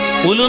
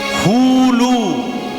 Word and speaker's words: হুলু: উলু নয়, হুলু। উচ্চারণটা হবে হুলু।